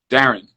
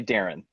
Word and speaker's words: Darren: Darren. I would say Darren. Darren. Yeah. That was the thing. Standard American, it's Paris and Paris. Yeah. It's that air accent.